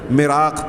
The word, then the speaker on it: مراق: پیچھے آپ پڑھ چکے ہیں، سن چکے ہیں ہاں کہ مرزا جو ہے مالی خولیا، مراق، ہاں میں نے شاید وہاں مراق کہا تھا، وہ صحیح تلفظ ہے، مراق، ہاں سل، دق اور ایسی بیماریوں کا شکار تھا، ذہنی خلل کا شکار تھا.